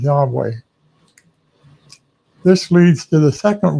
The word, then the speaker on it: Yahweh: The best educated guess that the majority of scholars agree on is Yahweh.